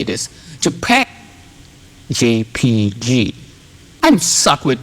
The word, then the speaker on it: JPEG: JPEG. JPG. I'm suck with pronouncing.